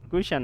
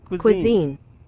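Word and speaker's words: cuisine: পেরেছেন বলি কুশ্চান হ্যাঁ উচ্চারণটা একবার আমিও দেখে নিই উচ্চারণটা আমারও বারবার করে অসুবিধা হয় কি ইউ আই এস আই এন ইম কুশন বলা হয় কুইশন কুইজিন কুজিন কুজিন কুজিন বলা হয় কুইশন নাই কুজিন কি বলা হয় কুজিন কুজিন শুনতে পাচ্ছেন কুজিন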